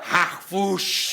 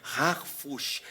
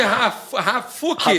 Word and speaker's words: Harfouch: veio o sobrenome para facilitar, Harfush.